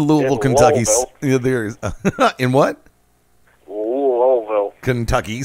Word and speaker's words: Louisville: enough people sit there and go no it's pronounced lville you tend to now subconsciously want to correct